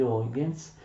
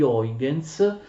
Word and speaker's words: Huygens: La teoria ondulatoria della luce, che si rifà a Cartesio e che sarà formulata ottimamente dal fisico olandese Huygens, si scrive Huygens e si legge Huygens, è la teoria corpuscolare della luce che verrà ovviamente espressa al massimo livello da Newton.